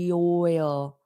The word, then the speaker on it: oil: I need to get my oil. Notice the pronunciation of this word. Oil. Oil. So there are two syllables.